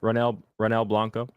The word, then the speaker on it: Ronel Blanco: Ronel, how would you pronounce that? What? Am I saying it right? Ronel Blanco. You said it perfect.